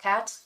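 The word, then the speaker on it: quatre: four in French's and Cat there's a little capsu spell is spelled q-u-a-r-t-r-e kind of like quarter but it's pronounced cat and if you're really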